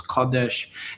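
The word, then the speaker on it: קדש: Transliteration is Kodesh. Pronunciation is Kodesh.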